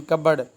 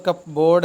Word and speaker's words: cupboard: Store करना है इन कबर्ड, अलमारी में। ये लफ्ज़ कप बोर्ड है लेकिन कबर्ड पढ़ते हैं इसको बेटा, CUPBOARD, इसके स्पेलिंग याद रखने हैं।